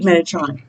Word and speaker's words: Metatron: one one instant manifestation benetron said it right metatron that's right and i believe him because he's